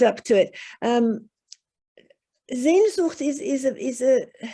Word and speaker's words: Sehnsucht: Sehnsucht. So, oh, I'm sorry. Yep. Sehnsucht. Sehnsucht. Ah, my Portuguese is not is not up to it. Sehnsucht it's a very strong desire for it's almost